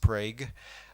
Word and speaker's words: Prague: The 2011 Prague, Oklahoma earthquake, it really is pronounced Prague.